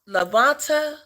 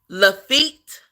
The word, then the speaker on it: Lafitte: Is it Lavanta? Is that how you say Lavanta? Yeah, I don't. I really don't. I really don't. I really do not. Lafitte. Oh, okay, Lafitte.